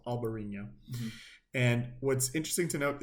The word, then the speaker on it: Albariño: the same thing but in Spain it's albarina with a b and in Portugal it's alvarina with a V okay so small difference now